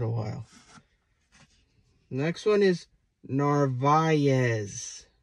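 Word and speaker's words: Narváez: while next one is Narvaez Narvaez I understand some people like to call him navares but it's not right this one is Escobar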